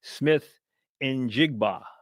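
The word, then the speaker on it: Smith-Njigba: So I have it phonetically spelled out. Smith injigba.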